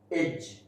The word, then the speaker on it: edge: When there is a D and after D there is GE, then that D is silent. Like judge, badge, budget, edge, okay.